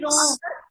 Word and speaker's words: wrong: Next आपका रॉन्ग, WRONG रॉन्ग, which letter is silent?